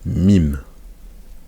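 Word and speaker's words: ميم: lame ça c'est l'être MIM donc ça c'est la lettre MIM MIM comme le M en français on allait être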